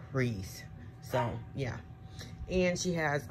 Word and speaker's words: Rhys: american r-e-e-s-e version but they're pronounced the same but i think you put a little more emphasis on the h in hers like rhys so yeah and she